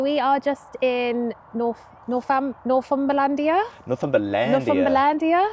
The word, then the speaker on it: Northumberlandia: Northumberlandia. That's how you pronounce it.